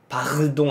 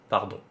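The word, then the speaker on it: pardon: 그것도 그 발음이 살짝 있어요. 멕시랑 똑같아요. 부드럽게 하면 돼. 파르동 아니고 파돈. 짧게, 너무 세지 않게.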